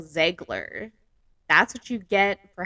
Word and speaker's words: Zegler: So apparently I pronounced Rachel Zelger's name wrong. Apparently it's Rachel Zegler.